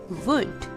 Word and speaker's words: would: W-O-U-L-D, wood. The letter L is silent here.